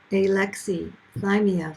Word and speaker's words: alexithymia: greek word which means having no no words alexi thymia for feelings and it's pronounced alexithymia and the exothermia is the precursor